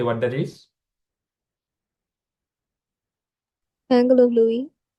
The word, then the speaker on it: Louis: Angle of Louis. Correct. That is the Angle. external angle of Louis. It's not Louis, it's Louis. L-O-U-I-S. Yes, S is silent.